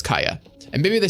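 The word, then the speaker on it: Kaeya: and I was like, I want to say Kaya, but I feel like Kaya would be spelled K-A-I-Y-A. But it's spelled K-A-E-Y-A, so it's probably Kaya. And then now they're actually saying it out loud and it's Kaya.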